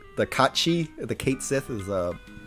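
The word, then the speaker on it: Cait Sith: names yeah we're gonna keep it I'm gonna pronounce it Kate Sith because that's the traditional way people pronounce it but that is actually pronounced Kachi because it's um it's like Gaelic um it's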